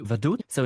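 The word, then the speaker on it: Vaduz: example the capital of Likenstein which would be Vadut so in German you would say vaduts and it's pronounced like in Roman because if you would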